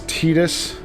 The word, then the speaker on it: Tidus: And like I said, I know they uh Square Annex said his name's Tetus, but it is not. It is not for us. It will and always will be Titus.